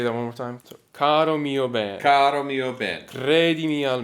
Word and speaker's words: Caro mio ben: So most of the time in Italian, the emphasis is going to be on the penultimate syllable. So that's The the second to last syllable is where it goes. most of the time. So the word caro, 2 syllables, mio, 2 syllables, and ben it should be bene, but for poetic reasons, they chop off the last letter. So then the emphasis would be on ben.